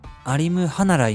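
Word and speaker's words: Alimkhanuly: まあ、英語の発音だとアリムハヌリじゃなくてアリムハナライみたいな感じで、彼も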